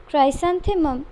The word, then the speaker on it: chrysanthemum: Next है Japan का है क्राइसैंथेमम, स्पेलिंग है CHRYSANTHEMUM, क्राइसैंथेमम जापान का है।